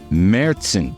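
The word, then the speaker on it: Märzen: f Now featuring two locally made German style meron beers I said it right they have the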